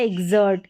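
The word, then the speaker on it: exert: यहाँ पर ज पढ़ेंगे, क्योंकि ज तो पढ़ ही रहे हैं, क्योंकि एक्स को यहाँ पर आधा ग और ज प्रोनाउंस करें तो ये ज ही है। तो ये हो गया एग्जर्ट, ये एग्जर्ट।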